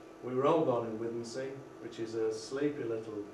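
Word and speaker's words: Withernsea: Escrick, Budworth, Howden, and Withensea, or Witheransea, as people in this part of the world call it, even though it's spelled Withensea.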